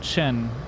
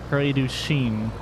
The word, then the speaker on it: Prairie du Chien: I always want to call it Chen, but it's not. I believe it's Chien. Prairie du Chien, I believe.